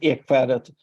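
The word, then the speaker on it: Ekskäret: It is Ekfärdet Foundation, or sometimes we call it the Oak Island Foundation, because that is what that means in Swedish.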